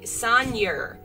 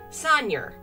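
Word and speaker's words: seigneur: was a real word s-e-i-g-n-e-u-r say sanyer sagner so it's kind of pronounced like senior sonia sanyochi so he's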